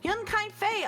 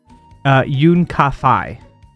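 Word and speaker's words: Yun Ka-fai: Yun Kai Fei of the 8 Leaves One Blade School. Yun Ka Fai. That's actually how it's pronounced. Yun Kai Fei.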